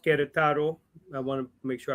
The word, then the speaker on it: Querétaro: He is of Mexican parents from Querétaro, pronounced Querétaro.